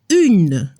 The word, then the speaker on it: une: Una se dice une. Sona la N al final.